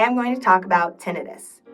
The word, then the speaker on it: tinnitus: Today I'm going to talk about tinnitus. You may also hear it pronounced tinnitus. Tomato, tomato, whichever way you choose to say it, it's annoying no matter what.